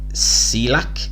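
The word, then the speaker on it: Cieślak: Then there's a little gap until 27th, which is Lawrence Okolie versus Michael Cieslak, is how you pronounce it.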